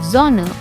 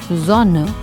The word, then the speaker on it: Sonne: But in most of the cases, the letter S sounds like Z. Like for example, if I say the word Sonne, you don't say it like Sonne, but you say Sonne.